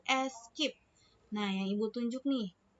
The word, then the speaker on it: Esc: ESC, singkatan dari SCP. Nah, dibacanya itu escape.